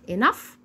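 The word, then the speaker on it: enough: ننطقها زي حرف الجيم طب ولو جت معايا في اخر الكلمه بنطقها ازن زي صوت حرف الاف بالظبط زي كلمه انف اللي هي بمعنى كافي انف انف تف بمعنى قاسي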